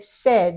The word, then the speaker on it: said: says saying said said we change that a and this to a short e says he says or they said it's not says and